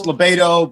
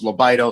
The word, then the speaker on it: LaBaido: am i pronouncing that right libido lobotomy it's libato but the original pronunciation when we came from italy was lobito so you're half right we'll give you that